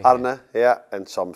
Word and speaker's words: Arne: It's a bit of a tricky because the R's have to roll a bit. Yeah, it has to roll a bit. Yeah. But generally it's Arne, that's what people say. Arne, yeah, and some say Arne or Arne.